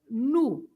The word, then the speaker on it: no: Yeah, the O at the end of a word is always pronounced as "u."